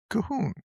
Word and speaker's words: Colquhoun: Now, for our listeners, if you're not familiar with the name Cahoon, it's spelled Cuhuhoun, but pronounced Cahoon.